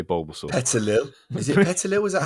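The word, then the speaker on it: Petilil: Petalil. Is it Petalil? Is that how you say it? Petalil, yeah.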